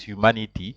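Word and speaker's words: humanité: say Humanity so um normally words that end with an e and an accent on top you have to pronounce it but that's why they that's why I said the accent is very important because there's an accident on top of on top of the E so that's why you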